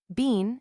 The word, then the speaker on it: been: Ben is the correct American pronunciation. Bean, as we have seen, is the English, but I have often found Ben rhyming with slpen slash in such phrases as I been there.